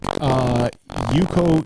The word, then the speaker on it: UCO: my pick of the week, Yuko camping utensils. Spell it.